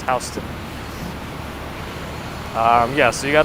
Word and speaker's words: Houston: in texas but in new york this is pronounced houston um yeah so you got to apply for